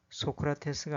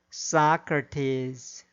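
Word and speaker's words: Socrates: 주어진 단어의 경우에도 인디애나폴리스가 아니라 인디애나폴리스, 사우디아라비아가 아니라 사우디아라비아, 암스테르담이 아니라 엠스터담, 리오데자네이로가 아니라 리오데자네이로, 소크라테스가 아니라 사크라테스, 오아시스가 아니라 오에이시스, 메르세데스가 아니라 머세디스로 발음해야 합니다.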